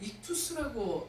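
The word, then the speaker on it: ἰχθύς: 이게 뜻이 이 앞글자 이게 익투스라고 읽는데요.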